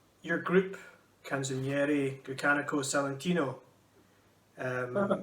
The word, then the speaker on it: Canzoniere Grecanico Salentino: Your group, Canzoniere Grecanico Salentino. Perfect pronunciation.